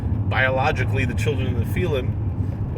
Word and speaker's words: Nephilim: An animal, it doesn't necessarily mean that they're biologically the children of the Nephilim, or as some people they pronounce it Nephilim, but the more proper Hebrew would probably be Nephilim.